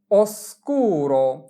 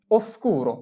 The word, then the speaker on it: oscuro: অন্ধকারকে বলা হয় oscuro oscuro oscuro।